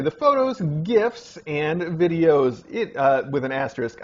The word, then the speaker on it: GIF: Anyway, you also say the photos, GIFs, and videos. With an asterisk, I share your opinion of how to pronounce GIF. Hard G, like gate.